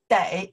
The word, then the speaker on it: 得: When I pronounce the day, means must have to, day.